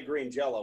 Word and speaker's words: Green Jelly: green jelly now well phonetically we still always say green jello we just write green jelly really oh cause the